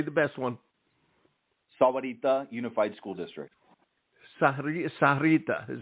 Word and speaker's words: Sahuarita: The Spanish version of the enunciation would be Sahuarita. But it also goes by the Sahuarita as well. But Sahuarita is the formal term.